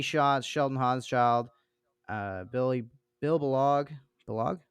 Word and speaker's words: Balog: Balog? Is that how you say it? Balog. Baylog. I knew it again. I knew it. I always know when I'm saying I'm wrong.